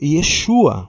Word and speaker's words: Yeshua: Eh, a primeira vez ele foi pronunciado como Yeshua pelo anjo lá.